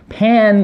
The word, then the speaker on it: pan: So pan 발음은 피읍 발음하고 비슷한데 좀 입술을 살짝 좀 더 지그시 더 물고 좀 터져 나오시지.